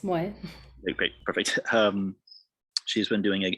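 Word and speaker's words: Moii: I have also been coordinating with, please correct me if I mispronounce her name, Moi, M-O-I-I. Yes, Moy.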